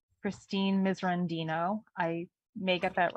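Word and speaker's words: Christine Miserandino: I believe it's pronounced Christine Misrandino.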